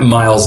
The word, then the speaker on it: Myles: can find me at Miles and my name is m y l s n ye my first name is Miles like Miles Davis but spelled with a Y and my last name